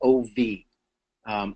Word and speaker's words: of: And we build a blind spot to some of the F's in the word of because that is pronounced phonetically OV, of.